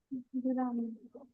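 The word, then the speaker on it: グラム: গ্রাম। গুরাম, তাই না? গ্রাম, জাপানি উচ্চারণ হবে গুরাম, অথবা কিলোগ্রামকে কি বলে?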